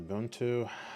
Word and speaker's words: Ubuntu: All right, this room has an Ubuntu. I'm gonna see. I gotta figure out how to pronounce this.